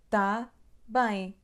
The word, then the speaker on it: tá bem: Mas aqui na palavra tá temos o som A aberto, não é tan. Então, tá bem, tá bem, tá bem, bem, tá bem.